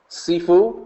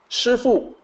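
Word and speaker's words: 师父: So one big example is that the Cantonese pronunciation for martial arts master, kung fu master, Sifu, S-I-F-U. But as I mentioned previously, in Mandarin, it's actually Shifu. It's actually S-H-I instead of S-I.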